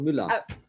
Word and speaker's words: Müller: your last name uh it's an umlaut as you know it's called mullah i wouldn't um so